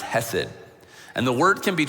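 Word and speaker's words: chesed: what this was originally written in that is pronounced hesid and the word can be translated into a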